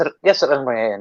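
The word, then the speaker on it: Al-Rumayyan: Now, this came from Al Rumyan, or however you pronounce it. If that was right, I do apologise if I was wrong. Yes, Al Rumyan, yeah.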